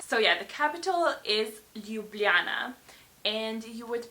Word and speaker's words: Ljubljana: So yeah, the capital is Ljubljana, and you would pronounce it Ljubljana. So Ljubljana is the right pronunciation.